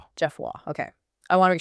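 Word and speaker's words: Geoffroy: It's pronounced Jeff Wah. Jeff Wah.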